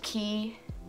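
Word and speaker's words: Quay: Are these, I think it's pronounced key, Q-U-A-Y sunglasses.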